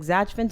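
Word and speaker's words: Zajfen: never heard of before Kelly Zin is that how you say her name z a j f n just sounds like zachan to me sorry if I'm mispronouncing it putting on a very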